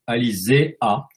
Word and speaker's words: Alésia: La graphie Alysia, en fait, devrait être prononcée, doit être lue plutôt Alizéa, puisque les deux astes que vous voyez sur le nom d'Alysia, les deux astes verticales et deux i, sont en fait la graphie latine traditionnelle du E.